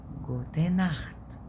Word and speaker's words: gute Nacht: اللي تسيها لو قبلها او او، تمام، او او اللي هي الاو بتاعت الانجليش، واليو والاي، او او بنتنطق خ، زي النخت، تمام، زي بوخ كتاب، ب او سي هات بوخ اللي هي بي يو سي اتش، تمام.